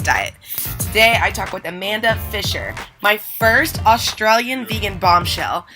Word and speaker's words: Amanda Fisher: And today we are interviewing the sexy Amanda Fisher. Did I pronounce that right?